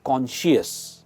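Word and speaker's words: conscious: Self कॉन्शियस दोस्तों, इसकी pronunciation है कॉन्शियस एंड नॉट कॉन्शियस, इट इज कॉन्शियस।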